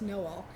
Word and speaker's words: Noel: Although the actual town name is pronounced Noel, but it is also sort of a Christmas Ozark town, and so hopefully readers will like a Christmas book.